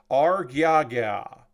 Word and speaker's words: R-GyaGya: we'll move on to the R-GyaGya, which is very fun to say. It sounds like I'm messing up when I say it, but that's how you say it.